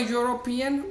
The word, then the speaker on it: European: he must be a european or an european see the sound here is a year again we are not using vowel sound here we are using consonant sound so your is a consonant sound in any language not